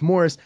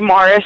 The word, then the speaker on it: Moras: You don't want to say Moras because they'll spell it M-O-R-R-I-S.